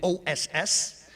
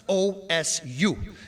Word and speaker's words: Osu: And you should start using it for everything as well because a lot of people do it wrong. They do o ss. They spell it. It's not. It's osu.